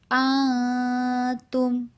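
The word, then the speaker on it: أنتم: Antum. Bukan antum, tapi atum. Samar-samar.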